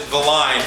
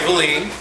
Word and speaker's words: Valine: mine, Craig Valine, who the first time I introduced him, I pronounced it Valine, and he was so nice to correct me nicely and politely, but it is Craig Valine. Rhymes with gasoline, which you pour on to flame up your marketing.